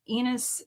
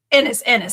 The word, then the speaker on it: Ennis: Had Enos signed the Kev trades last year. Wait, Ennis. Why does it rhymes with Ennis?